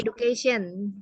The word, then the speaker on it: education: Tulisannya education, tapi cara bacanya bukan education. Coba ada yang tahu nggak cara bacanya apa? Education. Apa? Education. Ya, jadi D-nya dibaca J ya, education.